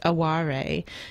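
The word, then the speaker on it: 哀れ: So there is an element, and there's actually a foreign pronunciation of the word. It's aware, and that's A-W-A-R-E.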